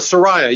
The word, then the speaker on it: Soraya: And it's at the is it the Soraya? Is that how you say it? The Soraya, yeah. It used to be called the Valley Performing Arts Center.